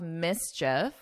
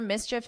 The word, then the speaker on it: mischief: After numerous complaints of mischief, we know what this means and the pronunciation. Remember, mischief is simply bad behavior.